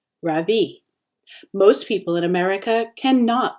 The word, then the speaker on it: Ravi: It's pronounced Ravi, with a soft Ra and a strong V. In Sanskrit, it means the sun. In America, people call me Ravi, with the stress on the first syllable, and that doesn't mean anything.